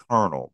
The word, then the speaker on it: colonel: M AJ do dot when you spell out kernel doesn't look like you would pronounce it kernel because there's no there's no R never never mind never